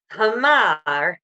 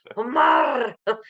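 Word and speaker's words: حمار: And he was like, Hamar, with his British accent. And it was hilarious. I'm like, no, it's not like that. It's just Hamar, roll your R, dude.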